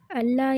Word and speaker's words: அல்லாஹ்: அல்லாஹ் என்ற வார்த்தையில் உள்ள லாமுக்கு முன்னாடி ஃபத்ஹா அல்லது வம்மா இருந்தால் அல்லாஹ் என்ற வார்த்தையில் உள்ள லாமை தஃகீம் செய்து வல்லினமாக உச்சரிக்க வேண்டும்.